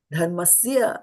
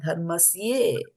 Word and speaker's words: dharmasya: And then the next one is dharmasya, and it is not dharmasye. There's a difference between dharmasya and dharmasye. If it was dharmasye, I would have put an e, or Prabhupada would have put a e at the end of it, right? It is a over here, and we'll pronounce it as a a.